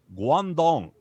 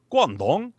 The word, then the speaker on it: Guangdong: that it's like but it's spelled like q-u-a-n-g-d-o-n-g guandong and but but it's like guangdong and and like and